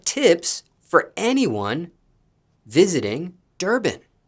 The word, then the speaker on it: Durban: And speaking of Durban, did I pronounce that correctly? Yep. Okay, Durban.